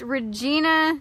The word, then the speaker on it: Regina: Hi Flora, it's pronounced Regina, Saskatchewan, pronounced Saskatchewan.